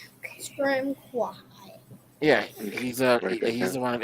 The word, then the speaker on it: Ashram Kwahai: So the guy in the robes is named Ashram Kwahai. KWA-HAI. He's the one. Can we make that easier to say? Nope, that's his name. Ashram Kwahai. Ashram Kwahai.